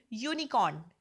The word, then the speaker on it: unicorn: For example, unicorn, u means y. When we write u, so we start with y, no?